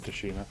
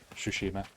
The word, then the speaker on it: Tsushima: of a war-torn uh toshima sorry uh sushima realized us pronouncing that wrong in the previous stream you're not meant to say tea this is the